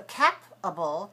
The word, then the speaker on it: capable: the same as capable if we have a double p that will close off the letter a we would say cap but when we have ca that's the first vowel uh that's open we can say a cape bubble does that help you